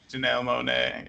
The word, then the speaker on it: Janelle Monáe: Is it Janelle Monáe? Is that how you say her name? It is. Yeah, Janelle Monáe.